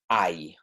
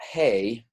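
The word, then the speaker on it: hay: there are okay is ie right it's not hey not hey remember that H is silent ie I and so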